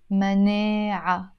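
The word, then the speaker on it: مناعة: mania ma nay aha it finishes with the timur butta is usually silent mania when the word is on its own I don't say many ads no I say mania but because here I'm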